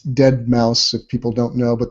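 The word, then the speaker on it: deadmau5: It's Dead Mouse if people don't know, but they make the S into a 5.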